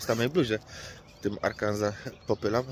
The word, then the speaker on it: Arkansas: Ale aczkolwiek, słuchajcie, tak jak patrzę, obserwuję sobie tutaj te całe Arkansas, to Arkansas pewnie zaraz, bo S się nie wymawia.